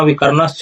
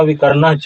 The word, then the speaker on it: विकर्णश्च: और नीचे के लाइन में देखिए अश्वत्थामा विकर्णश्च, ऐसा नहीं होगा, अश्वत्थामा विकर्णच।